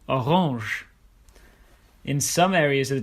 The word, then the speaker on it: Orange: In some words of French origin, you'll hear it pronounced as je, for example, orange.